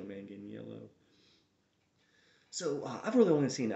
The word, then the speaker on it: Manganiello: moyer mangano the werewolf manganiello i think is how you say his name joe man getting yellow so i've really only